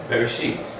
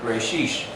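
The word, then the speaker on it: בראשית: Give me the sound of that. Bet. Bereshit. Yeah. Some even say Bereshit or Bereshish if you're Ashkenazi.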